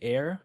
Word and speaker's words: Aer: And just to kind of showcase something, you know, my favorite backpack brand ever is called like Air. It's spelled like a Eeer.